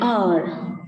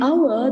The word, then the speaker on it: hour: In hour, the H is silent, whereas in hard work, it is pronounced.